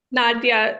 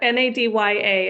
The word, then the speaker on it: Nadia: Is it Nadia? Nadia. Nadya, Nadya is how it's pronounced.